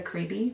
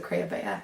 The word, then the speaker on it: Crayabea: the Crayabea Knitting Podcast, which forever I called it the Creeby because I hadn't heard it pronounced. And then my friend laughed at me and told me that it was the Crayabea, and now I feel silly.